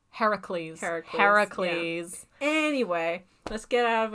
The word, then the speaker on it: Heracles: How do you say Hercules? Like the actual Greek way? Not the Roman way? Because Romans say it Hercules. Heracles.